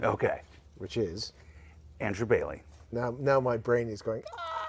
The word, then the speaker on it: Boehly: technically pronounced more Bailey than Boehly.